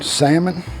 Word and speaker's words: salmon: some salmon patties salmon salmon i don't know why they put a l in it if you're not gonna pronounce it but we're gonna i've